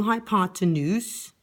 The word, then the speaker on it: hypotenuse: Okay, once again, taking my ruler, lining it up with my blue hypotenuse, rhymes with moose, draw 1 centimeter or 1 millimeter, whatever ruler I'm working with here.